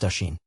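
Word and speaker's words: Oisín: said fin turning to oen pronounced Asen the cuckoo calling from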